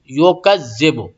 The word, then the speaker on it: يكذب: ارأیت الذی یکذب، یو نہیں، یو، جیسا کہ میں بتا چکا ہوں میں کہ انگلش میں جو یو پڑھتے ہیں STU، ویسا تلفظ نکالیں، یو نہیں بلکہ یو، اور زی ایک دم جھکا دیں، اور پھر با آ گئی، اس کو بھی بو نہیں بو پڑھیں گے۔ یکذب بالدین، ٹھیک ہے۔